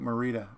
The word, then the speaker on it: Marita: And whenever people say my wife's name wrong, she said it's like Marita, Marita Bread. But instead of E, there's an I, M-A-R-I-T-A.